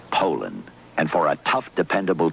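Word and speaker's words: Poulan: for over 30 years they've been mispronouncing our name po po po po so we'd like to remind you that our name is Poland and for a tough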